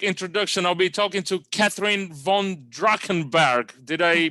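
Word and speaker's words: Katherine von Drachenberg: I'll be talking to Catherine von Drachenberg. Did I pronounce it right?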